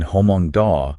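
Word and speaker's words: Hmong Daw: the beginning uhhuh in Hong da it's pronounced with aspiration so it's kind of like a breathy okay but in Mong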